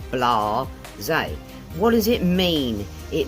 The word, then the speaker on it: blasé: Sounds a little French, could be a little French, but we use it in England a lot, or I do anyhow. So 2 syllables, guys, blasé.